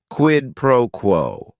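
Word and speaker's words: quid pro quo: right here quidd proquo it is three words each word is only one syllable and if you're saying it together the stress is kind of on that first word and that last word quidd proquo what this means is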